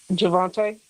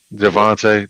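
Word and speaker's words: Javonte: Javvante. Javvante.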